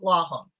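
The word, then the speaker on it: Lawhon: Frozen River by Ariel LOM I hope I pronounced it right it's l aw n yes um and it's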